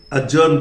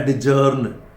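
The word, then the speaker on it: adjourn: अब देखिए इंश्योर ये सही है, ये अजर्न, देखिए साहब प्रोनाउंसिएशन, कुछ लोग ये डी के चक्कर में से बोलते हैं एडजर्न। This is नॉट एडजर्न, this is अजर्न।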